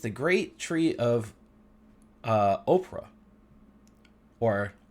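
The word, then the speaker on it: Ophrah: great tree of uh Oprah or ofra I don't know if it's Oprah or Oprah but I think it's ofra the way it's spelled which belonged to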